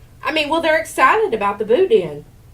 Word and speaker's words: boudin: That's pronounced Boudin.